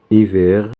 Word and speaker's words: hiver: Hiver, je mettrai un pullover. Donc, et nous avons ici un déterminant démonstratif. Cet, C-E-T, parce qu'il y a H qui ne se prononce pas.